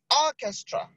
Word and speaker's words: orchestra: so then you have Orchestra orchestra is on the first syllable is on the first